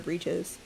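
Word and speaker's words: breeches: No britches is well I guess it depends if you say britches or breaches. I always thought you pronounced b r e c h e- s as britches as well.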